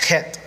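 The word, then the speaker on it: חית: Sheen, bet, and it says chet, but it's pronounced het.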